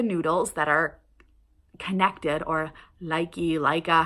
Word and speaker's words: Lykke: sets of size 1 Luca noodles that are connected, or Leica, how everybody says it. I think the correct pronunciation is Luca.